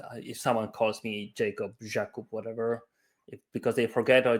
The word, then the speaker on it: Jakub: In Poland, you would say Jakub.